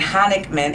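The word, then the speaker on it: Honigman: District Court for the Eastern District of Michigan, she was an associate at Sidley Austin LLP in Chicago, Illinois, and Honickman, am I pronouncing that correct?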